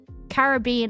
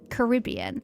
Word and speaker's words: Caribbean: Apparently, it's all the Caribbean islands. Or if you're American, Caribbean, but um my pronunciation is correct, obviously. So, let's say Caribbean. Pirates of the Caribbean, not the Caribbean.